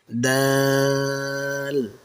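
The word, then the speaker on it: دال: আপনার জিহ্বার আগা সামনের উপরে দুই দাঁতের গোড়ার সাথে আলতো করে লাগিয়ে বলুন, দাল, এটি উচ্চারণ করার সময় একটা মিষ্টি ও স্পষ্ট আওয়াজ হবে।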